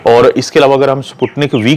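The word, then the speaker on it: Sputnik V: और इसके अलावा अगर हम स्पुतनिक वी की बात करते हैं, जिसको बाज़ औक़ात लोग स्पुतनिक 5 भी प्रोनाउंस करते हैं, लेकिन ये स्पुतनिक वी है, तो इसकी एफिकेसी बहुत अच्छी है, तकरीबन 90+ है।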